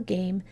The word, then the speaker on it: game: Did you spell game G-A-M-E? If you did, that's right. You had to add the silent E on that one because you heard that it was a long vowel sound, A.